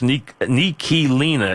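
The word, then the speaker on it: Ntilikina: I gather that's I see everybody butcher the name, but I think I went and checked it to make sure it's Nicolina is, I believe, right for your new point guard.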